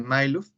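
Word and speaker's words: Majluf: Pero se pronuncia Mailuf, donde hablan de lo que es la estrategia.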